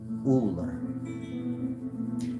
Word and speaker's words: Ullr: Meaning, I say it's pronounced that way, you look it up, it's going to say Uller.